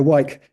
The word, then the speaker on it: Wyke: So does Richard still use his, I don't even know how to pronounce this, wiki? Wike? Wyke. No. No, blimey. Is it a bike? Yeah, Wyke.